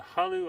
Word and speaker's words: Hullo: It's spelled Hullo, and it's Halu.